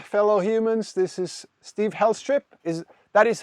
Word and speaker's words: Helstrip: All right, so ladies and gentlemen, fellow humans, this is Steve Helstrip. That is how your name is pronounced, Helstrip, right?